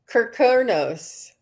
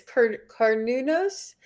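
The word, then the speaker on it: Cernunnos: it reminds me of Kirkonos. Do you know Kirkonos? I heard of it. Or, What is that? I was mispronouncing it. It's Carnunos. I was pronouncing it Sarunos um, the deity that I saw that had the antlers.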